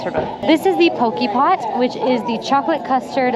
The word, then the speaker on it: Potjie: Also, if you're looking for this on the menu, it is spelled Potjie, but it's pronounced Poke Pot.